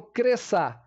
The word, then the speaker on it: cresça: pra palavra cresça cresça eu não falo cresça eu falo cressa tá a não ser que eu vou dividir silabicamente mas se eu falar direto sem dividir por siblas cresça eu não pronuncio esse c eu pronun cinho s tá ok então também